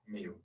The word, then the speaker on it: Miu: last name m i how you or how do you pronounce that me okay and what's your